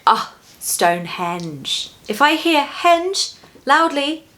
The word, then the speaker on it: Stonehenge: Keep that O in stone really round and elegant and beautiful. Stone, stone. And the GE in henge is a J sound. Henge, J, henge. Oxford.